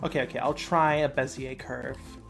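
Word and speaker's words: Bézier: okay I'll try a bezier curve I used to pronounce these beaser curves cuz I was dumb yeah beaser curves I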